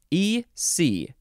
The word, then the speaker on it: eczema: The last word is eczema. ECZEMA. You can pronounce it eczema, eczema, or eczema, however you want to say it. If you even want to say eczema, that's fine too.